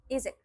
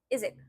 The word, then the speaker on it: язык: For example, it's difficult to pronounce the word язык. That's why we say язык, язык, язык.